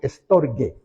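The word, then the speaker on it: στοργή: Un profesor me dijo que en griego la G era como de Gabriel, entonces digo estorge. Y estorge, aunque no aparezca la letra U para nosotros ahí entre medio para pronunciar G, ¿ya?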